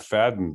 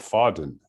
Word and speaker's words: Fahden: the point just accidentally my name is spelled f-a-h-d-e-n so it's really should be pronounced not fading but foughten you know that's the way it's phonetically uh pronounced uh but people say